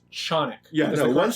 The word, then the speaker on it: Canik: company representative say it's Canik. Yeah, no, one said it to my face. It's the correct Turkish pronunciation. And I'm like, wow, great, I love my Canik. Or Canik. Right. Or Canik.